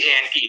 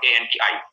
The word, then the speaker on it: ante: বানানটা কিন্তু ANTE, কিন্তু বলছি ANTE নট ANTI, তো দ্যাটস ইট, অ্যান্টিসিডেন্ট।